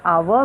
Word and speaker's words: hour: Okay, we should use an before hour, because here h is silent and we pronounce the word with a sound, hour.